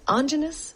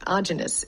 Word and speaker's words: Aajonus: place I'm speaking with anus ainous Aynous. I've been saying it wrong. Aynous. You said like homogeneous, but a Okay.